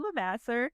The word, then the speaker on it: LeVasseur: We are excited to introduce our friend Evelyn Levasseur. Did I pronounce it correctly, Evelyn?